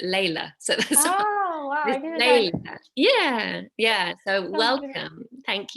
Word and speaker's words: Lelia: you this this is my middle name but i pronounce it layla yeah yeah so welcome